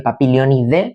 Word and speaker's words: Papilionidae: Ya sabéis que se se pronuncia Papilionide porque en latín el ae se pronuncia como una e, pero yo diré siempre ae porque como digo siempre estoy ya muy acostumbrado.